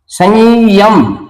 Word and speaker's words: संयम: अभी आएगा संयम यम संयम ये द्वितीय का आभास होता है लेकिन ये य डबल लिखा नहीं जाता लिखा यही जाता है उच्चारण संयम य डबल हमें महसूस होता है।